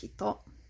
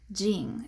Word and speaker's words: 人: able to guess so one of the alternative pronunciations of this is jing and that's the case whenever this kanji for person is acting as a suffix after a country name so i could put